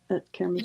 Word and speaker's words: Karamazov: Karamazov.